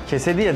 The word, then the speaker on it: quesadilla: Quesadilla diye okunuyor değil mi? Evet.